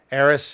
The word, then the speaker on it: Eris: by the name of ays ays is they've talked about ays several times uh we've actually spelled it a couple different ways but it's spelled e r i s they've corrected me ays